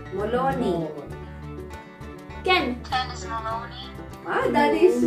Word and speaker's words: Maloney: Everything is silent G. Okay, next. Next one. Mom. Moloni. Moloni. Moloni. Not Molovni. Moloni. Ken, what's the correct? Moloni. Ken. Ken is Maloney.